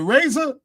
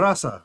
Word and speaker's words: Raza: Was it Razor? Razor. Which Raza? Wait, hold on. Let me get it right. Oh, you're talking about the Raza. The Raza. Yeah. So I'm saying it wrong.